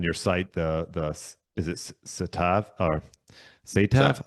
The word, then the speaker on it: Saatva: Yeah, I was just looking on your site, the is it Satav or So, Satav? How do you say Saatva. Saatva latex hybrid mattress.